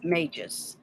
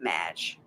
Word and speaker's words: mage: know the pronunciations ranges mages okay mage not match mage rhymes with sage there you go have